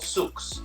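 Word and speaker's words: sucs: pond in english but in french it's called souks s-u-c-s and so what you do is you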